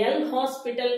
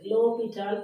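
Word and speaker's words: L'Hôpital: இதை எல் ஹாஸ்பிட்டல் rule அப்படின்னு வாசிக்காதீங்க தயவுசெய்து. இதில் வந்து H ஓ எல்லாமே எஸ் எல்லாமே நம்மளுக்கு என்னது? சைலண்ட். லோபிட்டால் தியரம்ங்கிறது தான் கரெக்டாக ப்ரொனவுன்சேஷன்.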